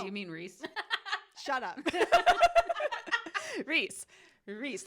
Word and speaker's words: Rhys: Reese, not Rhys. Reese.